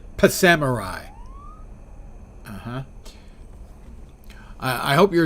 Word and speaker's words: Psamurai: full week already scheduled so you're Samurai I pronounce it pamai uhhuh I I hope